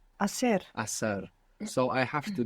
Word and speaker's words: hacer: Begins with a silent H. Hacer.